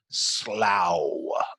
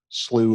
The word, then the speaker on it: Slough: threw me off is I looked it up and it said pronounce like s l o and then in parenthesis it said like cow so I was really I'm going with slow because maybe someplace SLO